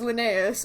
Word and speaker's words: Linnaeus: can to find hazel Linnaeus oh you have to work with us please also I've been I realize I've been saying his name wrong just now that already just said it says Linnaeus oh my god Arden